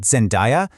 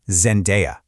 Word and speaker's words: Zendaya: A lot of people get it wrong, but it's not Zendaya. The correct way to say it is Zendaya.